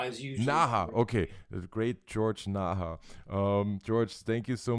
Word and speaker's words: Naha: we were associated with um the great george neher um am i pronouncing your name correctly uh nah as usual okay great george naja um george thank you so much for making